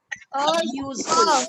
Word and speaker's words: useful: Of all the shopping you have done, I see only this book as useful. Useful. यूजफुल क्यों नहीं होगा? एंड क्योंकि यूजफुल में य की साउंड मैम आती है.